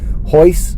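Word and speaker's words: Royce: the scene and this guy named hoist Gracie hoist is how it was pronounced but it was spelled with an arc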